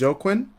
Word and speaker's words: Joaquin: I'll say Joaquin from now on.